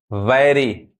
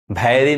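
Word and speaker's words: very: वैरी, भैरी नहीं, वैरी, वैरी। ये क्या पढ़ाएगा? वेरी। यहाँ ए साउंड, यहाँ पे ए आ रहा है।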